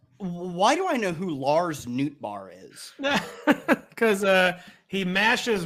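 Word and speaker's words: Lars Nootbaar: and he's the greatest name in human history Lars Newt bar is that how you say it right it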